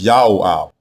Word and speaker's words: Joab: prefix dominative form but the way you pronounce it is not joab it is yaab yaab yaho is Father